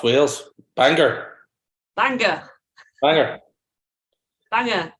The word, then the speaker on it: Bangor: Is there anything much at in Bangor? Who? Bangor. No, it's Wales. Bangor. Bangor. Banger. Bangor. OR, but it's pronounced ER.